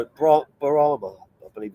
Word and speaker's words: Brahma: Brahma, I believe it's pronounced. Brahma. Not Brahma.